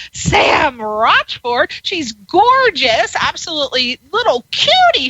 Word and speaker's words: Rochford: Her name is Sam, and it is pronounced Rochford. Sam Rochford.